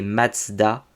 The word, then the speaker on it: Mazda: Mais en japonais, ça se prononce toujours Matsuda, et du coup, en allemand, c'est censé se prononcer Mazda.